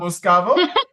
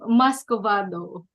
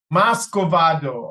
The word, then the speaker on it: muscovado: Did I Muscovado. pronounce that word wrong? What was it? What's it supposed to be, Sheila? Muscovado. Muscovado.